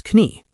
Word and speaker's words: Knie: It sounded very dramatic, similar to how modern Germans still pronounce the word for knee, which is knie.